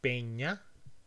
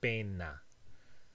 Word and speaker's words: peña: These two words, peña, pena, are the only difference between them is that this is an alveolar N and this is a palatal ñ. Pena, alveolar, peña, a kind of cliff.